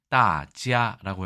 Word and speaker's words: 大家: 뜻으로 중국에서는 대가를 씁니다 발음은 따지라고 해서 많은 사람들 혹은네 영어에